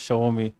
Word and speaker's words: Xiaomi: The spelling is something, they pronounce it as Xiaomi, right?